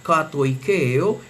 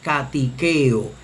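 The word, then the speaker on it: κατοικέω: Por lo tanto, este verbo se leería en la pronunciación erasmiana katoikeo, katoikeo, que es yo habito, yo resido, yo moro, katoikeo, mientras que según la pronunciación reucliniana debe leerse katikeo, catiqueo.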